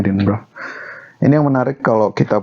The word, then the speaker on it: Edinburgh: Gue tuh selalu bacanya Edinburgh, tapi orang nyebutnya Edinburgh.